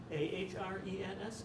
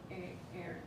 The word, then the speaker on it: Ahrens: Ahrens, Ahrens. Ahrens? Yeah, the H is silent. Okay. Aaron.